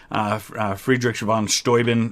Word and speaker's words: Friedrich von Steuben: And von Steuben, we have a city here 45 minutes from my house called Steubenville, but I believe Friedrich von Steuben is how it probably would have been pronounced.